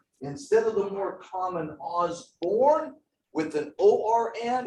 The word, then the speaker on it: Osbourne: If you actually pronounce Ozzy Osbourne's name correctly, you would actually pronounce it Osborne.